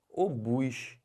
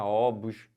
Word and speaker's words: obus: que fala isso aqui o bus não é ovos não é OBS é obus e o que quer